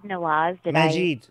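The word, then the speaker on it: Maajid: the Southern Poverty Law Center had Mejad Nawaz. Did I Majid.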